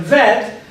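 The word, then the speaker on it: ב: We know they're pronounced chaf and vet, but the names of these letters are the kaf and the bet.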